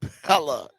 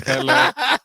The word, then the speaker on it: Pelle: of years now, but I thought it was Pella. It's ple. No, it's neither. It's neither because I just asked.